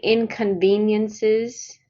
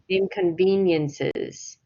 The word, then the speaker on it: inconveniences: is pronunciation so um the word inconveniences you pronounce the the middle part of that word wrong so can you say inconveniences inconveniences good inconveniences and then the upward